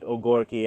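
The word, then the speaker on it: ogórki: That's also how you say it in Yiddish. Well, they call it ogorki, actually, the Poles.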